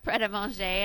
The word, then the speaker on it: Pret A Manger: It's pronounced Pret a Manger, I think, right? Yeah, Pret, yeah. Pret Manger.